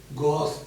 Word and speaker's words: gauche: लिखते हैं GAUCHE, गॉस, इसको पढ़ते हैं हम लोग गॉस, इसका प्रोनाउंसिएशन GAUSS, ये प्रोनाउंसिएशन होता है।